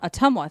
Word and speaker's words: Ottumwa: Ottumwa. Ottumwa, thank you.